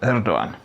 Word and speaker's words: Erdoğan: Yours, President of Turkey, populist conservative strongman Recep Tayyip Erdogan with a silent G.